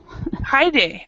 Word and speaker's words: Hide: i saw your name my name is hi day okay hi day thank you for telling me the pronunciation hi day okay well